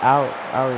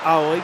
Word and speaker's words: Aoi: I I I went with Aoi cuz that's the Japanese pronunciation, but I'm and I've never been corrected on it. So, if it is wrong, I am unaware.